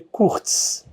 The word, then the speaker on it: Kurc: é da Bíblia e o Kurk se escreve K-U-R-C e na verdade se lê Kurtz, mas todo mundo me chama de Kurk.